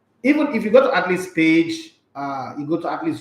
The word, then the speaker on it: Athlst: if you go to Atleast page, you go to Atleast YouTube channel, you go to Atleast is spelled ATHLST, okay, all consonant no vowels.